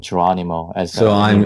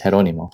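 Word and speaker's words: Jerónimo: And by the way, I used to pronounce his name Geronimo. I'm pronouncing it wrong throughout this discussion. No, you're not the only one. I've been pointed out multiple times by my Spanish friends, and then it took me, you know, months before I came to pronounce his name as Jeronimo.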